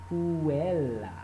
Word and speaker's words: puella: we would say cum puella. And this actually is a long A as opposed to this A, which is a short A.